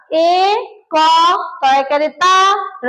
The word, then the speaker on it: একতারা: মনে থাকবে আবার এ ক ত র আকারে রা এইটার উচ্চারণ আবার একতারা কি তারা একতারা মানে আমরা একের উচ্চারণ যেমনভাবে করেছি এক তারাও তেমনভাবেই বলব কিন্তু এই শব্দটা উচ্চারণ